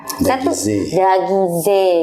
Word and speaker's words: Daguise: Tapi by the way tadi namanya Bapak Richard Dagize, gitu cara pronunciasinya Pak. Betul.